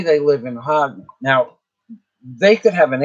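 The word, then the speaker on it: Jagna: It's spelled Janga, Hagna, but not with an H. The H sounds like a J. "I'll come and visit you tomorrow because I want to experience the beaches in Hagna."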